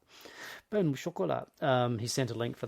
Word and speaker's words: pain au chocolat: This will be in the show notes, how to pronounce pain au chocolat. Pain au chocolat. Pain au chocolat.